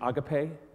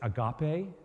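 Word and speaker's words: ἀγάπη: You've probably heard the mispronunciation agape. The correct pronunciation is agape.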